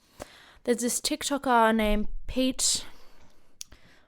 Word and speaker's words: Peet: this tick tocker named pete monsingo i believe is how you pronounce it it's p-e-e-t so don't you traditional pete uh and he he